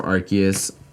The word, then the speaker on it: Arceus: Do you guys call it Arceus or Arceus? I've heard it's actually pronounced Arceus, but can't bring myself to pronounce it that way.